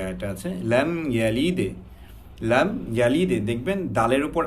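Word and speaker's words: لم يلد: আমরা অনেকে পড়তে পারি লাম ইয়ালিদ ওয়ালাম ইউলাদ, লাম ইয়ালিদ দালের যে কলকলার যে একটা আওয়াজ কিংবা যেই উচ্চারণটা করতে হয় আমরা সেটা অনেকে জানি না কিংবা করি না, কিন্তু আপনি যখন কলকলাটা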